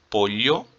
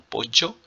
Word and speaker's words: pollo: Então nós temos aí o pollo, né? Lembrando que o LL tem esse som de LH, ou então pollo, ou então pollo, ou então pocho, né? Várias pronúncias.